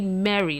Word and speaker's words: Merry: You know, my name is actually Mary, like Merry Christmas.